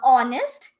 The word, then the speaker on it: honest: Then honest, yes. So all these are something before which we use and, though the word is starting with H, yes, but the H is silent, right?